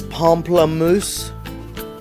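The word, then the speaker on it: pamplemousse: The French word for grapefruit is pomplamus. It's how you actually are supposed to say it, but it really is it's spelled pample moose, you know.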